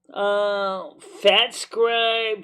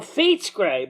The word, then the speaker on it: Fate Scribe: Okay, so the latest is Fat Scribe Trinket becoming a real cheat death trinket in patch 9.2. Fat Scribe? Oh, Fat Scribe. That's the way it's spelled. F-A-T-S. Oh, Fate Scribe.